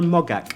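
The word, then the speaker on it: Moggach: It's The Best Exotic Marigold Hotel, written by a woman called Deborah Mogak. And I know you pronounce it that way because I checked on Richard and Judy.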